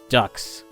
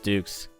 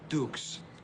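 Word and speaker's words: Dux: an incredibly stupid name like d-u-x ducks super original a duck pokemon named ducks maybe it's french and it's supposed to be pronounced dukes that will make you frank ducks no no it's dukes gotcha like put up your dukes right boarding the ssn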